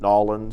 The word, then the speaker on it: New Orleans: about the pronunciation of New Orleans because you hear it so different I say New Orleans you said New Orleans but here nawlins you hear New Orleans what drives you nuts